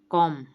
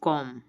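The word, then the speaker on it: comb: में के साइलेंट है कॉम यहां बी साइलेंट है बी की साउंड नहीं आएगी कॉम लिसन यहां पर टी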